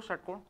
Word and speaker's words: षट्कोण: षट्कोण का उच्चारण करने में जीभ मुड़ के मूर्धा वाले इस सस्त को टच करेगी। इसलिए क्या हो जाएगा? मूर्धन्य।